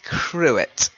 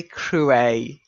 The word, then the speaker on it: cruet: Now, a lot of people say cruet, okay, cruet. Some people say crouet. It's a little pretentious to call it a crouet, but you can do